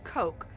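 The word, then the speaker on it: Koch: It might be coke. I grew up on the east coast and we had neighbors whose name was spelled that way and so I grew up learning that to be pronounced cotch.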